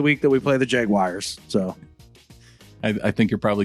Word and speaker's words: Jaguars: you are all wrong it's pronounced jaguars not jaguars or jaguars no opinion on the